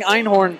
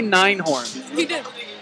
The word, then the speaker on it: Einhorn: reads Finkle and Einhorn I'm pronouncing Einhorn correctly you said first did not say nein horn oh it's just it's